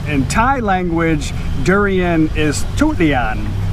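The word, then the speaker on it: ทุเรียน: In Thai language, durian is tutlian. It's spelt basically with a T, not a D. So the proper way to say durian in Thai language is tutlian. Tutlian is Thai for durian.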